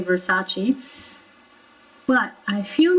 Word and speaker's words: Versace: he did not say versace but i feel like those r's are a bit too pronounced there is only one r in armani and one r in versace therefore we don't really